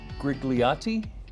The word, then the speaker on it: grigliati: In Italy, they love their grigliati.